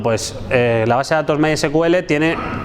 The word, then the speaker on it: MySQL: Bueno, como decía, MySQL o MySQL, en inglés esto se lee MySQL, ¿vale? Si tú dices MySQL, pues quedas como un poco cutre.